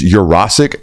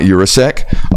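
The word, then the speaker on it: Jurasek: for quite some time it is urasc not urasek um so shout out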